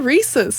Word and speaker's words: Reese's: People say Reese's, and I'm like, no, the whole point is that it rhymes. Yeah, Reese's.